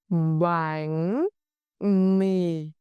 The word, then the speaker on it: bánh mì: Shape your lips to smile for the vowel E and apply the sắc rising tone on bánh and the low falling tone on mì.